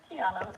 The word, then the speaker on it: Qiana: Did I say that right? It's Qiana. You said it right the first time.